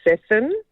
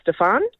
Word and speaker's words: Stefan: Okay, so my eldest is Stefan, like Nathan, Stefan, and he gets Stefan.